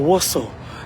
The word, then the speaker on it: Warsaw: Yeah, or Warsaw. Volei tu vaka in England, English. Well, it's written like that, but it's pronounced be umatang au pronounced actually vaka England, British English.